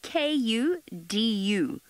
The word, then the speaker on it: kudu: So when I'm saying kudu, what it is it's a word that is spelled K-U-D-U, kudu.